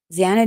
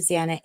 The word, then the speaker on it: Xana: She tells the story of Zana introducing herself to the Pythes, explaining that her name is pronounced Xanax without the X.